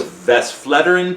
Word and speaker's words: Westvleteren: I don't even know how to pronounce it. Okay, so Westvleteren 12.